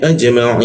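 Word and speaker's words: أجمعين: Ajma ma bibir didapatkan mai ii huruf i diakun ya bertemu ja dan nun dimatikan seolah-olah muncul bendera di di ainnya dipanjangkan tiga ketukan. Jadi dibacanya ajmain lalu dibaca nunnya tidak usah ditahan.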